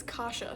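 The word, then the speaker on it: Kasia: Uh, Caseia, the pronunciation guidelines says Kasha, so that's how I'm gonna say it.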